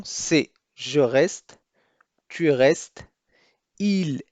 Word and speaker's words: il: فالبعض من المبتدئين في تعلم اللغة الفرنسية دائما يتساءلون ما الفرق بين il et elle. il للمذكر و elle للمؤنث، مع أنه يرى أنهما لا يختلفان في النطق.